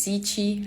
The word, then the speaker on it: Cichy: my name is my last name is si chi and that's why the